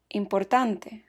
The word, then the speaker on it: importante: Important becomes importante. Side note, words that end in ENT or ANT are accented on the next to the last syllable.